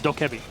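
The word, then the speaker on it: Dokkaebi: to worry about trying to pronounce dhoka be correctly Oh kevie well it's doc heavy that wasn't was a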